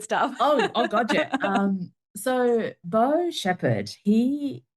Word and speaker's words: Beau: Like, his name's Beau. Am I pronouncing that correctly? Yes, Beau, that's correct.